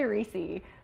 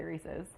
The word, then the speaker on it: Reese's: making homemade reesei cups how do you say Reesey I say reesei but most people say Reese's Reese's Reese's yeah agreed Reese's Peanut Butter Cups